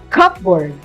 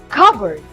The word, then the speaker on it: cupboard: now the third one we often read this word as cupboard can you guess what's the correct one it's covered now let's have the definition any small